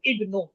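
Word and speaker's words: ابْنُ: প্রথমে যে হামজাটা আছে ইবনু আমরা ইবনু বললাম তাই না হামজা উচ্চারণ করলাম।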